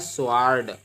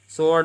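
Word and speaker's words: sword: इसी प्रकार से लिखा है स्वार्ड। स्वार्ड नहीं पढ़ते हैं, इसको सोर्ड पढ़ते हैं। डब्ल्यू नहीं पढ़ेंगे।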